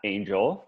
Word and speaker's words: Angell: My name's Angell, two L's. You have to pronounce the second L next time for me, okay?